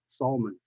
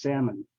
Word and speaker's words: salmon: eat almond but here it's not salmon because the L here is silence so it's salmon the first sound is s like a s s salmon and then in thigh